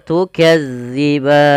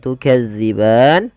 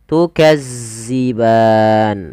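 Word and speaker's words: تكذبان: Maaf, bukan panjang, menggantinya dengan huruf zai. Contoh bagaimana? Tukazziban. Nah, itu diganti. Padahal dia tidak boleh. Yang betul bagaimana? Tukazziban. Bagaimana cara membacanya? Yaitu ujung lidah kita agar sempurna daripada makhrajnya, kita tempelkan ujung lidah kita dengan gigi seri atas, maka za, maka tukazziban.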